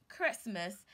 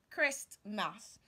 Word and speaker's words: Christmas: T is silent so you say Christmas and not Christmas is Christmas Christmas today